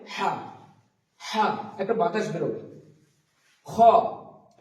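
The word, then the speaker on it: خ: খ, খ, খ উচ্চারণ হবে কনসোনেন্টের শুরুর দিক থেকে, এটা শুরুর দিক এবং এটা হচ্ছে নিচ দিকটা হচ্ছে শেষ দিক।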